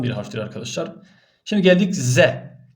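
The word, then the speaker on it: ز: harftir Arkadaşlar şimdi geldik ze işte Türkçedeki Z budur ze buradaki Z buradaki Z'den arkadaşlar Eee farkı şudur buradaki V peltektir buradaki Z keskindir İkisi de incedir arkadaşlar ince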